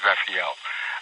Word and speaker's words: Rafael: Yes, it is Rafael.